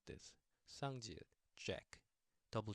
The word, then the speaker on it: 쌍지읒: Okay, and sounds like double J, of course, and it sounds like I could only think of in English mid jack, jack. You know how that J pronunciation is a little has more stress into it. Jack.